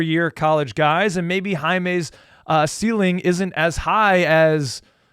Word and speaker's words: Jaime: But, yeah, and it's even more difficult when you see a guy like Jaime, who you thought is pronounced Jamie.